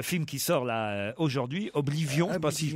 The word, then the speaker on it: Oblivion: Voilà pourquoi pour le film qui sort là aujourd'hui, Oblivion, je sais pas si je prononce. Oblivion, voilà.